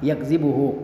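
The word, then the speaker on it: يَكْذِبُهُ: bi fathi ya'il mudhara'ah, yaitu dengan memfathah ya yang merupakan huruf mudhara'ah, yakzibuhu, wa takhfifiz zal, dan juga dengan ya meringankan zal, tidak mentasydidkannya.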